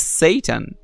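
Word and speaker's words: seitan: S E I T A N is Satan.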